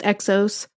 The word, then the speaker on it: XOS: So it's pronounced Exos. but it is spelled XOS.